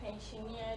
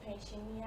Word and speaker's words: pensioner: once again the white pensioner doesn't exist in english language okay most people who say pensionia are influenced by the word like auctioneer and they are influenced by that pronunciation so instead of pensioner they say that has